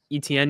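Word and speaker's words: Etienne: this season uh Travis eten is that how you say his name think of like letter e letter T then the letter N okay well he he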